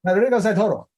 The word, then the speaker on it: Rodrigo Santoro: Rodrigo Santoro. I gotta look him up. Rodrigo Santoro.